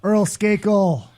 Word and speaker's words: Earl Skakel: Earl Skakel.